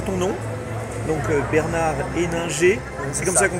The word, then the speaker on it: Bernard Henninger: Donc Bernard Héninger, c'est comme ça qu'on prononce.